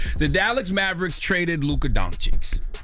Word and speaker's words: Dončić: Now, if you haven't heard, the Dallas Mavericks traded Luka Dončić. How you pronounce his name? Dončić?